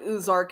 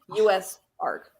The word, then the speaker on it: USARK: Ozark sorry I pronounce I certainly pronounce it like Ozark in my head but it is US Arc but uh Phil Goss